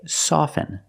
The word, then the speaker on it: soften: With both words, I don't pronounce the T. I say soften, and I say often. But sometimes you'll hear people say often, and it's not wrong. It's okay. People say both, often and often.